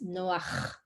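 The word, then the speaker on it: נח: And Noah with the H, you pronounce Noach. And you don't have ch in English.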